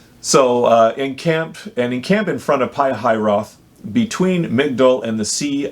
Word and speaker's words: Pihahiroth: in front of, and I wrote down the pronunciation because I struggle with it. It's Pihahiroth. So encamp in front of Pihahiroth, between Migdol and the sea of Baal-zephon.